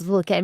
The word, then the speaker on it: Vulcain: No, actually, I think like I have many clients and visitors who actually like they say like Vulcain. So I think in English they pronounce Vulcain, but it's good. It's correct. Yeah. That's correct enough.